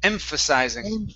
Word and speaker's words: emphasizing: ph is an f emphasizing precising impulse impressionizing emphasizing there you go the stress is at the beginning emphasizing emphasizing emphasizing good